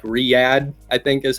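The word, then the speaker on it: Riyadh: uh did a deal with uh it's like Riad I think is how you say it or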